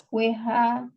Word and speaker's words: whole: WH, WHOLE. Oh, whole. Ya, bacanya whole. Jadi W-nya nggak dibaca.